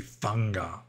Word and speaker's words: Sangha: Like in Burma, Burmese pronunciation of Pali, S is pronounced like TH. Like you don't say Sangha, you say Thanga.